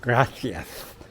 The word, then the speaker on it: gracias: Anyway, in South America, you say gracias, right? That's what you hear down there. But here, especially in the Catalonia area, that's aka Barcelona area, gracias is pronounced as gracias, with the lisp, gracias.